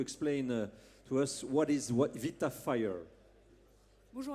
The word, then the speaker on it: VitaFire: Moi, quand je vous ai appelé, j'ai dit bêtement VitaFire, sans faire le lien avec évidemment votre activité, et c'est important de le prononcer à l'américaine, à l'anglaise.